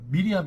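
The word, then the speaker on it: מרים: 어리석고 순진한 처녀가 아닙니다 히브리 발음으로 하면 미리암 있니다 미리암 그니까 구약에 미리하면 누구예요 여성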